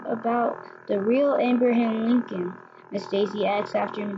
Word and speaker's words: Lincoln: the real amber ham Lincoln Miss Daisy adds after him just there Mac he loves with his hat and beard Lincoln rhymes with stinkin true Abraham Lincoln's face